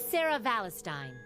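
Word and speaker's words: Sara Valestein: The name's Sarah Valestine. Stein, okay. Thank you for correcting.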